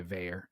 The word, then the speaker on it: Vaer: Well, anyways, as you're well aware, Tools to Live By is brought to you by Veyer. Veyer is spelled V-A-E-R.